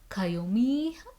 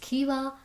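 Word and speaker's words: Caoimhe: living in Ireland I would just call it kayumi kayomi or something like that which does sound like a possible unique name but it's not quite right it's actually pronounced Kiva like who would have thought not me so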